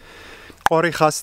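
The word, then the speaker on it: Khorixas: Korichas, that's how you spell it correctly.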